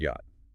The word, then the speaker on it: yacht: Take the word yacht, borrowed from the Dutch. That CH was originally a raspy velar fricative. The Dutch jocked. English speakers couldn't handle the rasp, so it went silent.